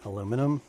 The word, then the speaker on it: aluminum: So essentially aluminium, as they say, as the Brits say, isn't it? Aluminium. I really like that aluminium and aluminum.